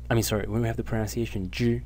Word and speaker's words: 只: So when we have the pronunciation zhi, when we have the pronunciation zhi in the first tone, as I said, it is a measure word, but only in its simplified version.